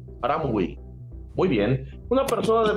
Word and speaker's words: Hamraoui: ¿Lo pronuncie bien? Haram Gawi. Aramui.